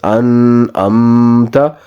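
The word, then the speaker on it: أنعمت: It is not correct to pronounce this as an'amta. So both alphabets, noon and meme, will not have a prolonged sound.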